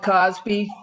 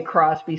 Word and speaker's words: Crosby: again that was philip cosby that had that concept that quality is free i should say crosby sorry about that i mispronounced his name so quality is free